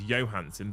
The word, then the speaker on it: Johansson: Apparently the original Danish pronunciation is Johansson, but Scarlet herself pronounces the J.